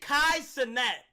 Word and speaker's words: Kai Cenat: Pronounce it Kai Cenat.